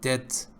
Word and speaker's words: debt: debt of sleep in debt the EBT B is not pronounced you're in debt obesity or actually a